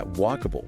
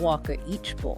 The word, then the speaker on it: walkable: But the emphasis, the stress is right at the beginning on walk. So walkable. Walkable. Not walk each. Exactly. And notice that last sound more like a soft bool than a really clear able.